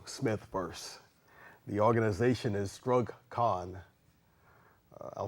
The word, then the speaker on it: STRUGG: The organization is STRUGG. I'll spell that. That's S as in Sam, T as in Tom, R, U, double G as in George, CON, STRUGG, and it simply stands for Struggle Continues.